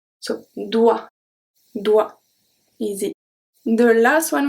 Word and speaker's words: doigt: So when we have GT at the end, we do not pronounce it. So we have le doigt. doigt, doigt.